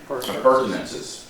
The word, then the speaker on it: appurtenances: Appurtenances. Appurtenances. It's actually 5 syllables.